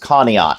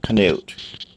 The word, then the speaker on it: Conneaut: another town in the northeast corner is actually pronounced Conneaut not Knut so I've heard people pronounced it both ways